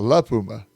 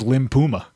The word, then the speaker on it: La Puma: No, it's a La Puma. I know. But that's Brian says Limp Puma.